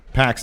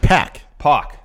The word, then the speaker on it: PAC: they don't say Pak Pak is how you pronounce packs name nevels name Pak Pok the bastard Pak Pok that's not how you pronounce it it's pack